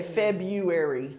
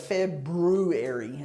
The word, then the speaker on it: February: States February February February it's actually easier to say February yeah instead of February it's just a little harder so just leave the r out okay here we go 24.